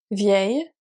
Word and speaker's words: vieil: Here we don't pronounce the L because it's part of the sound A, which is a rolling E. Do you remember A? So it's like the beginning of your yes in English. Yes.